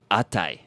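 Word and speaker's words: あたい: with Watashi no it it rhymes with necktie Oh I thought we were doing atashi but uh it's very similar it's actually atai Akai yeah oh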